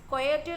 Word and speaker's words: coyote: And then pronounce coyote like this: coyo rhyming with boy, oat rhymes with boat, with the I at the end, sounds in the C.